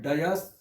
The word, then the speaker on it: dais: The word dais is 1000% wrong. The correct pronunciation is dais. Dais.